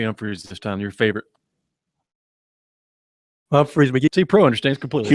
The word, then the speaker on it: Humphreys McGee: Humphreys McGee. See, Pro understands completely. It's not that hard. That was it. Hubert H. That's Drop the H. The H is silent.